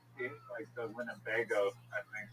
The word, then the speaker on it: Winnebago: Just the word Winnebago is like funny. It's Winnebago. It's four um syllables.